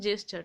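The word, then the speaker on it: jester: Man with a comic জেস্টার, এই উচ্চারণটা গেস্টার করে দিও না, জেস্টার, ঠিক আছে, অফ ডেসপায়ার।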